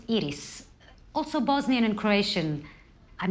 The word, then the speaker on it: Iris: It's pronounced Iris.